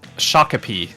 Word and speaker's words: Shakopee: North and then um Shakopee is what I've what I'm being told for the pronunciation um so you guys